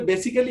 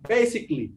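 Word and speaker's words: basically: আর যখন আগে বলতে বেসিক্যালি, এখন বলছি বেসিকলি।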